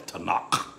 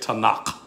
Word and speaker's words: Tanakh: and they uh and and everyone pronounced it they said tanaka you know t and k for the uh um um that's that's the hebrew bible it's called the tanakh the the uh torah